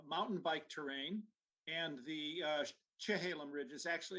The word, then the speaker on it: Chehalem: bike terrain, and the Chehalem Ridge is actually, it's pronounced Cha, because that's the Kalapuyan pronunciation, unlike our soft Sha.